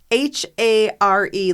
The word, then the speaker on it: Hare: It's spelled like Hare, like hair. Oh, okay. Hair, but everyone pronounces it Hare Krishnas.